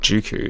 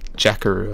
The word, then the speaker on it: Jakku: Finn and Rey leave Jakku. Okay. I don't think it's called Jukku, is it? Jakku or something.